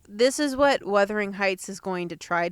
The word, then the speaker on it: Wuthering: say, this is what Wuthering Heights is going to try to do.